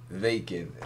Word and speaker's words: Wacken: was made very clear to me it was pronounced vacant let in German it was made very clear